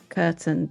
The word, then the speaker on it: Kurten: today I am very happy to welcome curtain too and have I said your surname correctly